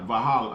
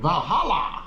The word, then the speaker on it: Valhalla: Vahala. How you say it? Valhalla.